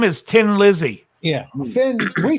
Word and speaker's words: Thin Lizzy: in in Ireland and they say tin to be thin so they were like we'll call it we'll call it Tin Lizzy but spell it with an H but it was still